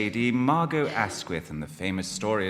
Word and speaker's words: Margot: And Margot Asquith says, well, look, you know, my name isn't Margot, it's Margot, the T is silent.